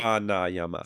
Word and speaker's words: pranayama: So you see the line over the A? That means it's long. So it's a rather than uh Okay. So pra Yep. Pa prana. Yama. Right. So earlier I mispronounced it. I said pranayyama. Yeah. Right. Pranayyama. So it's supposed to be prana.